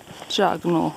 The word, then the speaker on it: Jagungal: And there she is, Jagungal, or Jagunal as I believe it's meant to be pronounced.